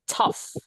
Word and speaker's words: tough: Is a tough. Tough. Heeh. Tough. Bacanya like tough. GH-nya dibaca F ya, artinya sulit.